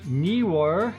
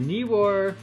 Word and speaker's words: Neewer: to take on the newer newer knee newer i think it's pronounced camera slider actually to uh be specific as it's advertised the knee war camera slider video track